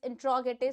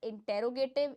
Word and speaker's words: interrogative: Next one we have is इंट्रोगेटिव sentence. Again correct the pronunciation with me, इट इज नॉट इंटेरोगेटिव, इट इज इंट्रोगेटिव, इंट्रोगेटिव sentences.